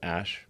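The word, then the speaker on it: Æ: The AE is, like, pronounced Ash.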